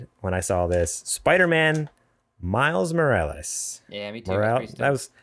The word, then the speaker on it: Morales: Morales. Your pronunciation say it.